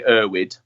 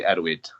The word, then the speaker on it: Erwyd: Yeah, so for an English-speaking audience, it'd be Erwyd. With a Welsh twang, it'd be Erwyd.